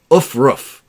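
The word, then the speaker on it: aufruf: And the word of the day is ufruf. And if you need to spell that, it's A-U-F-R-U-F.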